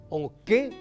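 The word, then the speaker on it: okẽ: En cambio esto es o qué, nasal, puerta, o qué, nasal, puerta, o qué, oral, dormir.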